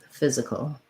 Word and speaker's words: physical: about in rifle physical same dark l at the end so rewriting that you might think fizz that's my long syllable and then fizz uh cole physical um yeah you can